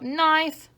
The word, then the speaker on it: knife: Remember, knife has a silent k at the start, because these two letters make the sound n. A razor sharp knife.